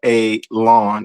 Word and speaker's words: Alon: Uh, by the way, my name is Alon, pronounced like you're going to cut grass, like you're going to cut a lawn. It's not spelled that way, but it is pronounced that way.